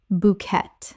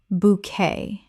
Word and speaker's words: bouquet: Bouquet. Correct pronunciation. Bouquet. 2 syllables with the T completely silent. This French word kept its original pronunciation.